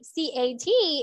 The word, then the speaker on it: cat: is it clear and when we say a c a t it sounds long right cat you need to smile to to pronounce it correctly like cat can't you cannot really pronounce this if you are not smiling i tell you okay